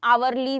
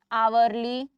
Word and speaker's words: hourly: Okay, an hourly visit, an hourly visit. This is how you pronounce it.